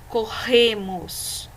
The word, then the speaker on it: corremos: Então, ó, palavras com RR, vai ficar corremos, repita a palavra aí, ó. Corremos. Ao pronunciar, esse R tem um som forte. Nós sentimos a pronúncia na garganta, tá bom?